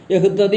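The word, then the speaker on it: يَهِدِّي: എന്നുള്ളത് യഹദി എന്നായി മാറും ഈ എഹ്തദി എന്നുള്ളതിലെ താിനെ ദാലായിട്ട് മാറ്റി ഒരുമിച്ച് ഉച്ചരിക്കുക തട്ടിയിൽ ഉച്ചരിക്കുക അതാണ് യഹിദീ എന്നായത് യഹ്തദീ എന്നുള്ള വാക്ക് തന്നെയാണ് അത് യഹിദീ ഉച്ചാരണ സൗകര്യത്തിനും ആശയം അല്പം കൂടി ഗൗരവമായി മനസ്സിൽ പതിയാനും അപ്പോ യഹ്ദി എന്നുള്ള വാക്കിന്റെ മറ്റൊരു രൂപമാണ് യഹിദി അപ്പ അതിലെ താിനെ ദാലിൽ ലയിപ്പിച്ചതാണ് അപ് പിന്തുടരപ്പെടാൻ ഏറ്റവും അർഹതയുള്ളവൻ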